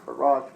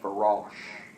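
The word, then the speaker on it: فراش: But Farash would be the English equivalent F-A-R, and I would spell it with the A, W-S-H, Farash. That's my own phonetics to give you the sound.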